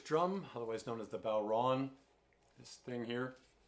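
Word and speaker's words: bodhrán: So Ron, take a bow, so Bodhran. Other folks you might hear say Bodhran, which rhymes with moron, which can sometimes be a reflection on the player, but I won't take that personally.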